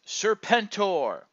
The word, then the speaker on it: Serpentor: the Transformers collectors club is serpent o more commonly pronounced serpentor this version of the